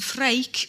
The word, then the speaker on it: Freek: For example, the Dutch name Frederik can be shortened to Freek, which is spelt F-R-E-E-K. It reads as freak.